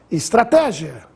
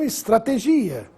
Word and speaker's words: estratégia: correta das seguintes palavras estratégia e não estrategia filantropo e não filantropo